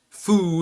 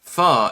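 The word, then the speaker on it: phở: Foo is pronounced fa as in fuck. Okay, fa. I thought it was faux. I mean, it looks like faux. That would be the way you'd pronounce it in an anglicized manner. Copium poppies. If you can pronounce fuck, you can pronounce faux. Fa. You just take off the CK. It's not foo.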